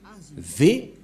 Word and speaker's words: vav: lettre vave vave et la prononciation c'est V inv c'est-à-dire que c'est V la bonne le bon la bonne prononciation ici on voit la prononciation équival c'estàd c'est comme la langue européenne les Européens quand il VO V prononce vre V prononciation du lettre vave en hébreu selon la prononciation de Abraham et Moché on le prononce V mais pas W ou ou comme avec